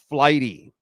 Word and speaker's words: Flighty: By the way, a tip for you: download the app Flighty. Okay, it's spelled exactly like what I said.